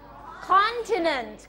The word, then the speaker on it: continent: นี้ เปลี่ยน แล้ว นี่ พยางค ที่ 1 เลย continent continent หมาย ถึง ทวีป ทวีป เช่น ทวีป ยุโรป ทวีป อเมริกา ทวีป เอเชีย อย่า เงี้ย นะ คะ continent หมาย ถึง ทวีป อย่า ลืม ออก เสียง ตัว T ด้วย นะ คะ ต่อ ไป คำ